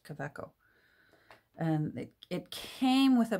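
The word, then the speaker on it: Kaweco: german made fountain pen um i had been pronouncing it cuico until i started watching videos and apparently it's pronounced caveco and it came with a blue ink cartridge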